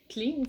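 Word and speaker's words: Cleanse: chaque matin le cleans c'est marqué cleans mais on le prononce cleans ça c'est durant les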